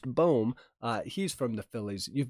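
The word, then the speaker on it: Bohm: white sox alec baum don't call him bomb it's pronounced boom he's from the phillies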